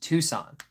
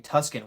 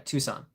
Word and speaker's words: Tucson: It's actually pronounced Tucson. Oh, I was reading Tuscan, wasn't I? Yeah, the S and the C were reversed inside my head. Yeah, Tucson.